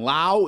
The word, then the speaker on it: Lowe: this season and last his often mispronounced last name rhymes with now but what brandon lau is doing with a